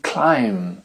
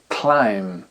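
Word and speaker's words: climb: let's go lettre B la consonne B ne se prononce pas dans les mots qui termine en MB avec les lettres m et B par exemple le verbe grimper escalader se dit clim clim un agneau se dit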